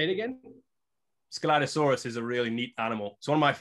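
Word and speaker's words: Scelidosaurus: that's correct next skeletosaurus or shalitosaurus this is skeletosaurus that's the pronunciation yes that's an early jurassic armored dinosaur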